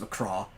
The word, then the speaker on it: McGrath: So MC apostrophe CRAITH. It looks like McCraith. It's pronounced McCraw.